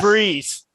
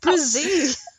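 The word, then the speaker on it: Bresee: Phineas Breeze. You didn't even pronounce his name right. Oh. Phineas Brazee.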